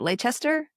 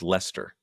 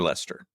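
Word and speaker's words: Leicester: out in is it Lchester? Lchester. What is that? Is that in the United Kingdom? Yeah, Lchester. I think it's pronounced Lester.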